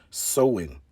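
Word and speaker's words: Samhain: back to the ancient celtic festival of sawin pronounced sowing the celts who lived 2 000 years ago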